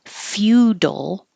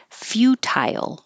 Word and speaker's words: futile: You can pronounce it feudal, and you're starting with your tongue in a high Y position as you make the F. Feudal, or you can say tile, futile.